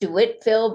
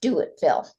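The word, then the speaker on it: Dewittville: Uh when you read it, you'd think it would be pronounced Ditville, but it's we know it as Doitville.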